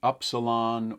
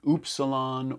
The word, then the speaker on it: upsilon: like a horseshoe, and it's got multiple pronunciations to describe it. It's the upsilon or the oopsilon or the upsilon. You call it what you please.